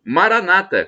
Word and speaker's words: Maranata: temos agora do aramaico a expressão Maranata como dizem os protestantes evangélicos com tônica na penúltima sílaba ou como dizemos nós católicos uma tônica na última sílaba Mas isso não importa